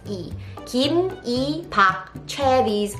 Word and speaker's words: Lee: And Lee also, we pronounce it as E.